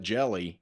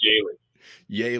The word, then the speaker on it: Jehle: want to call it jelly like jelly Stone na I've been called worth yeah it's pronounced yay yay all right I